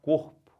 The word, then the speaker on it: corpo: gente fala né gente a gente fala corpo então você pode forçar a vontade no cor que vai ficar certo então é uma palavra